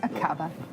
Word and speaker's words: Aqaba: Akaba? Is that how you would pronounce it? Yes, Akaba. That's right, Iris.